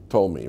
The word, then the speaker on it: Ptolemy: he's in our translations, he's written as Ptolemy, but I think you don't pronounce the P. Ptolemy, right? How you pronounce it? Ptolemy, but there's a P there, like psychology. Right, or like physical education, you know. There's a P there which you drop.